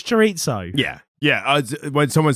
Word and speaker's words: chorizo: But what I find even more jarring is when people overpronounce foreign words. Yes. Chorizo. Fuck off, it's chorizo.